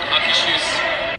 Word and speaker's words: Akershus: Alright, so it's called Akershus. Okay, that's how I thought you'd say it.